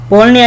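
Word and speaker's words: Bologna: बोलनिया इसलिए कहते हैं जी यहाँ पे साइलेंट है।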